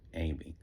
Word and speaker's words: AIM E: Behind me is my book, AIM E, pronounced Amy.